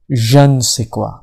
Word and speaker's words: je ne sais quoi: meaning but first repeat after me can be pronounced jean i like saying jean sequoia it refers to a pleasing quality that cannot